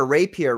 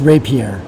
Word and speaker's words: rapier: and he's got a raper right here that's crazy rier or yeah Rapier I'm pretty sure well it's a French word isn't it so Frederick how do you pronounce it it's pronounced Rapier that's right you had